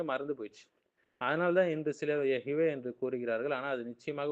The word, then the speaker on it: Yahweh: டெட்ராக் commission மூலியமாக வந்தது நம்ம பார்த்தோம் இல்லைங்களா சோ ஹீப்ரு பைபிள்ல பல ஆய்வாளர்கள் இதை எகவே என்று உச்சரித்திருக்கலாம் என்று சொல்றாங்க 10 கமெண்ட்மென்ட்ஸ்ல மூன்றாவது கட்டளை